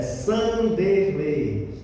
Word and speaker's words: Sanderley: conseguir pronunciar o nome correto é Sanderlei. Eh, Vanderlei, tiro o V, coloco o S no lugar, Sanderlei.